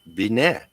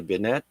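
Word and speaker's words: Binet: age of 79 next uh we've got Alfred benette that's spelled b i NE t benette uh born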